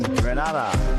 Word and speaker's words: Grenada: So today, like we Germans say, we are in Grenada. But I heard in English it's called Grenada. Say it right.